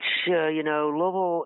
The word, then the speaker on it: Louisville: So now we're talking to David Lynch with Simonon Realty in Louisville, Kentucky. Am I pronouncing it right, David? Louisville? That is correct.